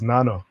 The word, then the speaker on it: Nana: And am I pronouncing it right? It's Nanya, right? It's Nana. It's Nana. Okay, it's Nana.